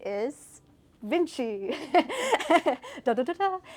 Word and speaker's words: VNCCII: And so Vinci is inspired by the name Leonardo da Vinci, the creative polymath, but I did something super weird with the spelling. It looks like Roman numerals, so it's spelled out VNCCII.